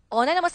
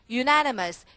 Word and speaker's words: unanimous: Unanimous 아니지? Unanimous.